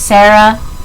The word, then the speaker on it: Zara: pointing to zara which her name is actually pronounced Sara but I said Zara because there's a Z but this is a